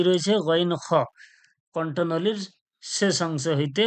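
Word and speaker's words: غ: পড়া দেওয়া রয়েছে মাখরাজ নাম্বার তিনে কি রয়েছে গইন খণ্ঠনীর শেষ অংশ হইতে উচ্চারণ হয় গইন খুন গইন জবর গইন জের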